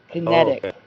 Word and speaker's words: kinetic: It's ket like a like a fishing net. Kinetic.